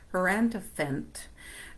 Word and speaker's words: Hierophant: Oh, the her Hierophant. I know it rhymes with elephant.